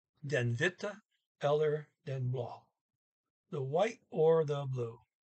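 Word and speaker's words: blå: a circle over it when you have an a circle at the very end of the sentence you can very hear hear the ah a longer sound and they got plenty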